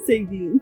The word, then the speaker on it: Sagan: Sagan. I always thought it would like singing or something. I don't know. No, you say the G.